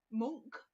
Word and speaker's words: Munch: And Monk, I believe is the correct pronunciation, Edvard Munch and Tennyson.